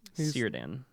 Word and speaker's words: Círdan: Círdan. Círdan from the Grey Havens. Círdan of the Grey Havens. Círdan, brother. Right, it's a C. C Which is not pronounced a real with a hard K in Middle-earth.